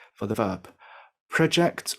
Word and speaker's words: project: increase for the verb project or project for work as a noun but project as a verb to mean through forward